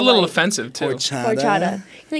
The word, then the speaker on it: horchata: Okay, first of all, what y'all need to order up when you get there, horchata. Ooh. Horchata. Horchata. You don't. It's spelled horchata.